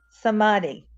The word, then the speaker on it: samadhi: no what is how do you say it samadi samadhi yeah go ahead did you research samadhi no